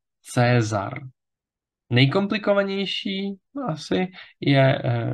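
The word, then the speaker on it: Caesar: tak říkáme slávy ja Latina měla eh dvojhlásky AE a OE eh které se ve středověké výslovnosti čtou obě jako jako dlouhé e takže například ve jméně Cézar Čteme Cézar dlouhé e Pokud zůstaneme ještě u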